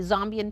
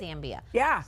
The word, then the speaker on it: Zambia: I'm glad that you pronounced it that way because while in Zambia, myself, April 2024, the Zombian people said it is pronounced Zombia, not Zambia.